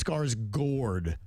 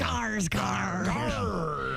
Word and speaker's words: Skarsgård: I think it's Skarsgård cuz it has it's the A has the two little dots over it.